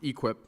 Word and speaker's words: EQIP: A cattle farmer in eastern Missouri signed a $240,000 contract in December under the Environmental Quality Incentive Program, pronounced EQIP, and had already spent $80,000 on fencing and a well that he expected to be partly paid back by USDA.